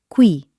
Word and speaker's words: qui: It is always followed by the letter U like in the word qui, here, or questo, this. Listen to the sound. Q. Qui.